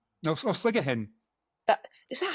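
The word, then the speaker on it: Sligachan: Oh, sligger hen. That is that how you pronounce it? I really Well, that's how my colleague Ruth who speaks GA pronounces it sligger hen.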